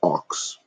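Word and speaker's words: Ochs: New York Times bought in 1896 by Adolf Ox pronounced o was a white supremacist newspaper they published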